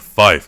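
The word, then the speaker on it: five: The bastards were pronouncing it Fife instead of 5.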